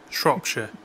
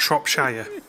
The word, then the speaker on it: Shropshire: don't live in middle-earth it's not shire it's so it's Derbyshire where I live Yorkshire Lancashire Shropshire not Shropshire any more queries just